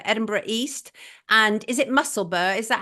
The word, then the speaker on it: Musselburgh: And is it Musselburgh? Is that how you pronounce it? Yeah, Musselburgh.